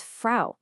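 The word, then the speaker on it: Frau: For tree, it's balm. There it is again. Balm. Now, the word for house. House. H O S. This one's pretty much identical to English. And for woman, it's fra. Listen to that pattern again. Auto balm. House. Fra. It's the exact same sound every single time.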